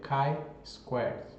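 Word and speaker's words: chi-squared: literatura k Squared tá a pronúncia correta aqui é k Squared tá que é da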